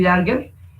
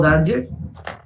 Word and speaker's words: Darger: son Daniel Johnston y Henry Darger, o Darger, lo pronuncian de las dos maneras.